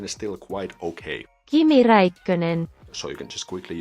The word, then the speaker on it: Kimi Räikkönen: The translation function is of course still under development, but the pronunciation is still quite okay. Kimi Räikkönen.